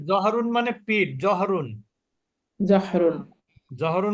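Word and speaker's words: ظُهْر: বলে না মদ্ধান্য জি জুহরুন মানে কি মধান্য দ্বিপ্রহর মধ্যান্য বা দ্বি প্রহর বা দুপুর লাঞ্চ আওয়ার বা যোহরের নামাজ সেটা হচ্ছে জ এর উপরে পেশ হা এর উপরে সুকুন তাহলে দেখেন বানানটা একটু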